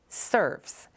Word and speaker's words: SRVS: Once called the Shelby Residential Vocational Services, this organization is now simply named SRVS, pronounced SERVS.